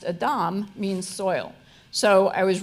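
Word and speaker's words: אדם: and that was Adam whose name in Hebrew pronounced Adam means soil so I was really ignorant that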